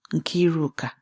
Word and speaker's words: Nkiruka: Nkiruka. Her name. Her father's name for her. Auntie Chidinma says it the way it was meant to be said. 3 syllables. Each one placed with care.